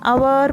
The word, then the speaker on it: hour: So, O-U-R, hour, means belonging to us. So, which hour should you use here? H-O-U-R, hour. Here, the letter H is silent.